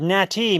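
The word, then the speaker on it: gnat: But a nat with a silent G is a gunat, just like Hindu.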